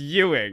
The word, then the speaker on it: Ewing: so tux was by Larry awing Ewing one of the two I eing probably Ying yes it's e wi i n it's Ying before someone crucifies sure